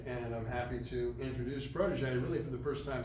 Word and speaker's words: Prodoge: So anyways, Prodoge, what Prodoge is, and so the name of the company is Prodoge, or Prodoge, right? It's a play on words. And French pronunciation.